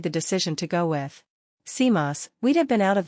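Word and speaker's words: CMOS: what was known as a bipolar to seos pronounced seos technology if this enormously complex project could be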